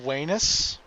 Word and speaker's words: Venus: so yeah and also V makes the W sound in Latin did you know this